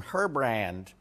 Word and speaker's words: Herbrand: guy named ER BR he's French so I can mispronounce his name horribly everyone calls him herbrand um Mr herbrand proved